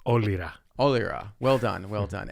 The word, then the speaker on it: Olyra: Most people know it as Olyra, but you pronounce it, and the correct pronunciation is Olyra.